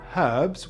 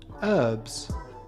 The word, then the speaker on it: herbs: British cooks like the H in herbs, whereas Americans prefer herbs.